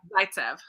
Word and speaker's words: Zaitsev: How do you say it? Zaitsev or Zaitsev. It's Zaitsev.